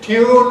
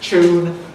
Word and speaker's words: tune: And where in British English we say tune, or the derived coalescent tune, Americans keep tune, typically.